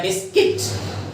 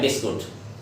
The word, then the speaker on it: biscuit: Next word हमारा common word है बिस्किट। देखिए हम इसको बोलते हैं बिस्कुट, लेकिन इंग्लिश के अंदर हम इसके जो सही प्रोनाउंसिएशन है बिस्किट, BISCUIT, बिस्किट। तो ये नेक्स्ट वर्ड जो